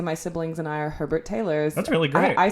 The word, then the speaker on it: Herbert Taylor: Please welcome to the Gory Days, Herbert Taylor. Welcome. Hello. Is that how you pronounce it? Yes, Herbert Taylor?